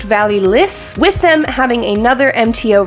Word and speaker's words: Vallee Lys: I believe it is pronounced Vallee Lys.